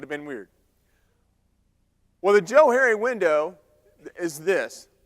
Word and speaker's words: Johari: like it's probably pronounced Johari, but I pronounce it Johari because it was created by 2 guys. They're psychologists back in 1955. Their names happen to have been Joe and Harry.